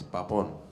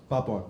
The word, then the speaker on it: Papon: पापोन. पापोन ना? पापोन. हाँ, तो कुछ लोग पैपोन बोलते हैं, but जिसको जो मर्जी, लेकिन वैसे पापोन है, पाप ऑन है मेरा.